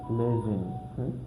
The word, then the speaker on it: lesen: going also to find that S, we read it as Z. S, we read it as Z. For example, we have this word, for example, that verb lesen, lesen, which means to read, lesen, which means read. So that S, when you find it, S alone, and in front of it there is a vowel, so it will be lesen. Read it, lesen, like that.